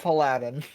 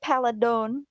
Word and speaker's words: Paladin: words you just learned I how to mean- pronounce. Nothing will ever one up Paladin. Paladin. Wait, how did you said your mom said it weird too? She said, "Oh my god, oh dude," she said Paladon.